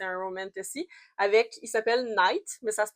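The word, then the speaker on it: Nyte: Puis elle va se lier d'amitié et probablement plus parce que c'est un romantasy avec, il s'appelle Knight, mais ça se prononce, ça s'écrit N-Y-T-E.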